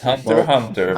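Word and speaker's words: Hunter x Hunter: well which is why i never pronounced the x it's just hunter hunter maybe my english skills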